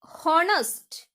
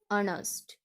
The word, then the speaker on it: honest: Here honest, this mistake, the pronunciation is honest. Okay, so here H is silent here, so the pronunciation is honest.